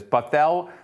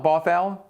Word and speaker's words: Bothell: shore school district and i'm hopefully i'm not mispronouncing this buffal is that right buffalo bothell bothell okay bothell that one i didn't give